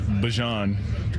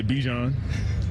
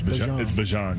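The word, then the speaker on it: Bijan: How you pronounce my name is Bjon for everybody that's that's out there. Um, I know a lot of people say Bjon, but it's Bjon.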